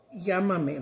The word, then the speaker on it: llámame: I think they start with a Y, and actually it's double L because it's pronounced y also. Like llámame, like call me.